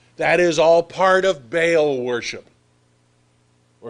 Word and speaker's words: Baal: That is all part of Baal worship. Or if you want to be a little closer to correct in pronunciation, Baal. It's 4 letters and 2 syllables with a split between the A's.